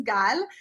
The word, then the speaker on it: Gal: But if you have a name like Gal, right, and the proper pronunciation is Gal, then like we have to figure out, is it apple or father?